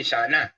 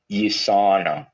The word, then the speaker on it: USANA: So, pero dahil American po ang company, US-based, USANA. Yan. Pero pag sa Pilipino, iba na basa niyan. Ang basa niyan, Yusana. No. So kasi syempre, medyo iba raw talaga yung ating diction, no, ating pronunciation. Anyway, again, Yusana is true health.